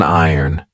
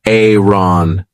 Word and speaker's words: iron: This is an iron. Be careful of the pronunciation. I did an entire video on this. This isn't Aaron.